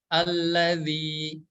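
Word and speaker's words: الَّذِي: gitu nggak memaksimalkan pengucapannya jadi setiap huruf yang berharakat kasrah rahang bawah kita harus ditarik ke bawah alladzi alladziina huruf dzal berharakat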